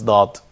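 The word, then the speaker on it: ض: This letter represents the emphatic counterpart of Dal. It should be low and front of and close to the roof of the mouth.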